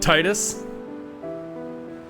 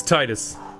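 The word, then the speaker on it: Tidus: And I'm pronouncing it Titus. And that's it. Done. End of sentence. It's Titus.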